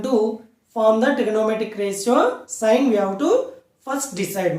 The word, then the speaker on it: sin: Okay, now but we are going to pronounce it as sine only. Okay, now it is short noted as SIN, but we have to pronounce it as sine only.